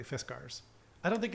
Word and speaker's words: Fiskars: I asked them, and they said it's correctly Fiskars.